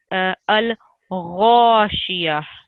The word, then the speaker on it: الغاشية: So I heard you pronouncing it a little bit like a kha. So it can be mispronounced by that. A lot of people do that. But it's a kha, a gha, and it's one of the thick letters.